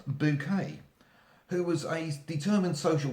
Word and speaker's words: Bucket: character Hyacinth Bucket, or as she preferred it pronounced, Bouquet, who was a determined social climber, and her general plans sort of came to failure, which is where the comedy came in.